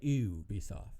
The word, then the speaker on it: Ubisoft: i saying to write ubisoft is that how you say it uh they would say ooh be soft ubisoft ew they're french yeah um once you play